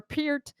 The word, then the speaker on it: Peart: but a combination like neil peart or peered because people always say it's pronounced pierre it's okay the drummer